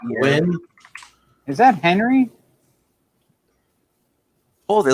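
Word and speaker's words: WEN: yeah, I guess it's supposed to be pronounced Win.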